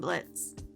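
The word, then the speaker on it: Blitzø: His horns were way bigger than Blitz. Speaking of continuity, looking at the subtitles, we see that in the past Blitz's name is spelled as Blitzo, but presently the O is slashed out since it's silent.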